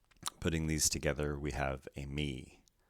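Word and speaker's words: εἰμί: these together we have a me not amy because of the acute accent it's a me this word begins with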